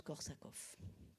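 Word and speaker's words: Korsakoff: en tous les cas ça se prononce korsakov en avant encore de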